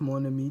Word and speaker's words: mon ami: The N from mon links to ami. Mon ami.